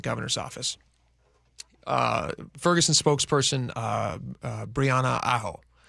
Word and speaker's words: Aho: Ferguson spokesperson Brianna Aho, AHO. Am I pronounced that right?